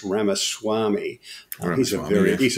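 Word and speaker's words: Ramaswamy: uh what's his name Vivek I'm told is pronounced Rama Swami and he's a very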